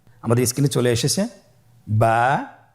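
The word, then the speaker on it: با: আমাদের স্ক্রিনে চলে এসেছে বা বা হরফটি কিভাবে উচ্চারণ করবেন? বা হরফে টান হবে। এক আলিফ টান।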